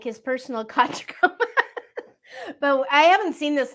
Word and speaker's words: Tachikoma: the Shell thing because I think it's a Takakoma is how it is. I'm sure I got it wrong, but I know that you were. Tachikoma.